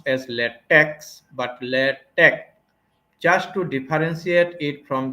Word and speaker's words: LaTeX: tell this thing that this is many people pronounce as latex it is not pronounced as latex but Letch just to differentiate it from the chemical latex so we would pronounce it as in this way lch scientific document writing using lch now if we